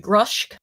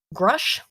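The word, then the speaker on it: Grusch: we got it the form intelligence officer David grosh grush how do you think you pronounce that grush David grush who led analysis of unexplained oh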